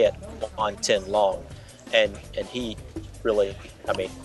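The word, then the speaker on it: Guan Tianlang: name, and it is Guan Tin Long. You got to get it right now. I do. It's opposite of the way it's spelled.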